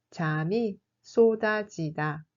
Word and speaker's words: 잠이 쏟아지다: 잠이 쏟아지다 se prononce comme 잠이 쏟아지다.